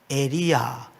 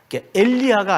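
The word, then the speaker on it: יריעה: 에리야, 엘리야가 아니에요. 리을 받침을 빼고 에리야 이렇게 표현을 하는데, 이게 이제 커튼 또는 휘장이란 뜻입니다.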